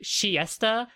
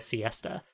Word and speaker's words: Siesta: i was saying it in japanese it's pronounced like shiesta which like in early translations they were actually their name was translated as the siesta sisters like you know like taking a siesta um but no they're